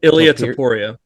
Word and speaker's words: Ilia Topuria: Ilia Topuria.